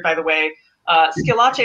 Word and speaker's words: Schillace: by the way uh skillache is my last name and i've been called shoelace for years so i'm very sorry um